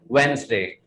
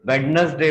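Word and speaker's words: Wednesday: इसमें भी आपको डी को साइलेंट रखना पड़ेगा. And that is वेंसडे. वेंसडे. दो भागों में आप इसको बांध दीजिएगा. डे अलग हो जाएगा और वेंस अलग हो जाएगा. वेंसडे. आप इसको वेडनेसडे प्रोनाउंस नहीं करेंगे.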